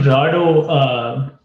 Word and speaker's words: Rado: I think Rado, sorry if I'm mispronouncing the name, is on the call. I think they wanted to work on the browse CI/CD part or anything related to CI/CD really. Rado, do you want to? Hi, everybody. Yeah, you pronounced it right.